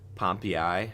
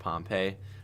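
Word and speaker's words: Pompeii: Um, Pompi is how it's pronounced, not Pompei.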